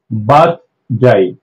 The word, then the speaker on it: birthday: यस, सो अब इसका are silent हो जाएगा उस रूल के अकॉर्डिंग। सिर्फ बर्थ नहीं होगा, बर्थ हो जाएगा, बर्थ डे बर्थ डे बर्थ डे।